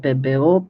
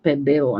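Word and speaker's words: Pébéo: I do have a whole bunch of PBO paints. And yes, it is pronounced PBO, not PBO, because it's a French name and it's got the accented E's.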